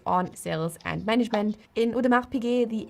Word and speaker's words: Audemars Piguet: In Udmar Pig the S is silent. So not Udmar Pig or Udmar's PK but simply Udmar Pig.